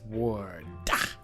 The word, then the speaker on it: Wardh: strange vice of mrs ward that's silent silent h on the end ah not the only